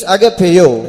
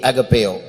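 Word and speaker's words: ἀγαπάω: And for that word love in the Greek tongue it means agapeo. இங்கிலீஷ்ல AGAPAO, அதுதான் அதோடைய உச்சரிப்பு. AGAPAO, agapeo.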